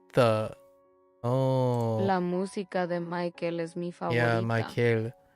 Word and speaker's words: Michael: La música de Michael es mi favorita. Yeah, Michael. I was putting the accent on the last one, which is not right. I'm thinking of Michael. The Michael. Not Michael.